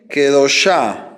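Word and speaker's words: קדושה: Va a decir, vamos a ponerle kadosh igual, kadosh, agregamos kametz ei y cambiamos la kamatz por sheba. Entonces diría, aquí dice kadosh, kadosh y kedoshá.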